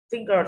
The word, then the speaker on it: finger: Finger ơ không nhận trọng âm rơi vào âm tiết thứ nhất là phi.